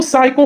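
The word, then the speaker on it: psycho: है यहां पे तो साइको हमने यहां एस से पढ़ा पी छोड़ दिया क्यों क्योंकि ये साइलेंट है तो पी ही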